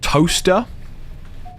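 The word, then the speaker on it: Towcester: I grew up near a place called Toaster, which is spelled Towceser.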